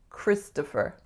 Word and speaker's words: Christopher: I think the biggest trick is that most speakers of North American English are going to make that second syllable what? Christopher. A schwa. And oftentimes I don't hear Christopher, I hear Christopher or Christopher or something similar. So strongest syllable is the first, Chris, to, and then fur.